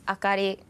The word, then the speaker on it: Akari: It's Akari. Totally flat. It's totally flat.